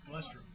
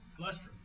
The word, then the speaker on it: Glustrom: Glustrom. Glustrom. I see it. Rhymes with bus.